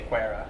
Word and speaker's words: QuEra: So, another pronunciation issue. Um, is it quer? Officially, we say Qua.